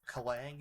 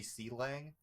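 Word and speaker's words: Clang: Like, I'm pretty sure Kalang is supposed to be C-Lang, but I don't like it, so I just like you don't disrespect, just like you disrespect Godot, Xavier.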